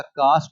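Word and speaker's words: karst: कास्ट topography. ये जात वाला कास्ट नहीं है। आर साइलेंट है।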